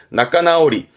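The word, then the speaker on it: 仲直り: 발음은 나까나오리.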